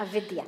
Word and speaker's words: avidya: Funny fact, I was reading exactly about um avidya, like ignorance of the self, before coming here in a book. Ah, avidya. Yes, yes, yes. I'm not sure the pronunciation.